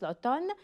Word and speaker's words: l'automne: y a aussi l'automne faites attention comment on prononce l'automne et l'hiver très bien voyons voir maintenant la